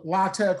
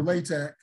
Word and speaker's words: LaTeX: I know that looks like latex but it's pronounced either lch or latek um either way is is fine and it's